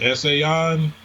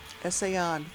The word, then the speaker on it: Essayons: We pronounce it Essayons. Essayons.